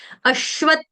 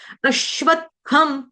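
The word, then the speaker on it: अश्वत्थम्: पे दबाव लगाना है अश्वत आधा त का टच देना है। अश्वता ऐसे नहीं गाना है। ये गलत उच्चारण है। अश्वत हम थम थम थ थरमस वाला थ थन वाला थ थरमस वाला थम थम और थ में भी क्या होता है? इसमें जैसे आपका घ होता होता है, घ होता होता है, भ होता है, उसी तरह से आपको इसका उच्चारण करना है।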